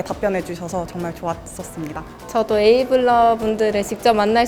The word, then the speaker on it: AIVLE: 기업이 원하는 실무에 강한 AI DX 인재가 되고 싶다면 정답은 KT 에이블스쿨 2기입니다. 인생 짧아요. 여기로 오세요. KT 에이블스쿨의 주인공은 바로 당신입니다. 지금 바로 지원하세요. AIVLE 어떻게 읽어요? 얼라이브 아이블레 AI블이 에이블스쿨. I는 묵음이에요. AI, 비전, 에이블.